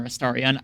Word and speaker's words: Astarion: Asterion or Astarion. I call him Asterion because that's how I pronounce his name, and that's how I've heard his name pronounced.